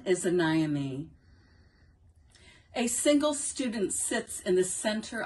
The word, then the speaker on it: Anaemy: pronunciation my name is anami that's a n a na is the accented syllable and pronounced like a